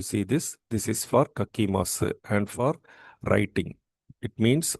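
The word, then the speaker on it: 書きます: So, the corresponding Japanese verb is kakimasu.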